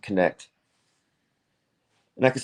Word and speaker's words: Knecht: And his name is Joseph Knecht. I think it's pronounced Connect.